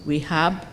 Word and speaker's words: WEHAB: W-E-H-A-B, WEHAB. It sounds like somebody not pronouncing we have properly, but the last letter is WEHAB.